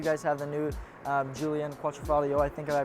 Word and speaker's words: Quadrifoglio: Awesome to hear that you guys have the new Julian Quattrofalio. I think I pronouncing that correctly.